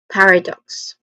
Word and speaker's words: paradox: Paradox. One more time. Paradox. Again, the stress syllable is on the first syllable par.